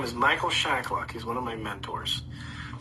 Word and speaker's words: Shacklock: go check out Michael Shacklock's work. Michael Shacklock's? Yeah, Michael. Is that how you say it? Yeah, Shacklock. SHACKLOCK. Oh, Shacklock. Okay.